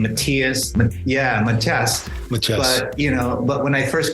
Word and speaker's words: Matias: But when I came here, and actually the pronunciation of my last name in the Philippines was Matias. And here it became Matias.